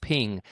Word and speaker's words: p!ng: My guests today are the co-founders of a company called Ping. That's spelled P exclamation point NG, a robotics-powered coffee drive-thru